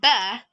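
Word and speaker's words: ب: can notice that letter ba when you pronounce ba your leaves come and touch so you say that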